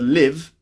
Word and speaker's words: live: we've got the word live and the word leave so live and leave okay you see the difference it's a short sound in live and a long sound in leave so live and leave